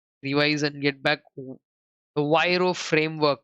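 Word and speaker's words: VRIO: The Viro framework, Viro, however you want to pronounce, I call it as Viro framework.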